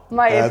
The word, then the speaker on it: Maepa: It's Maepa. That's Correct. Your surname. Correct. joked at the start and he said all Afrikaans people say it like and. Maepa.